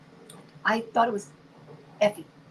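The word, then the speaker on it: Eufy: It's I think it's Effie.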